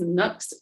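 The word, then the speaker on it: Nuxe: oh okay this is from nux i think it's pronounced nooks of paris um this is their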